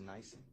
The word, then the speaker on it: NIBIN: I'll put this in writing just for ease, but on it's pronounced nice. The firearms, nice.